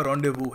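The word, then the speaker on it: rendezvous: वगैरा के लिए यह याद रखना कि एस साइलेंट है प्रोनाउंस करने का तरीका इसका रोंडे वू है कभी बोलना अगर पड़े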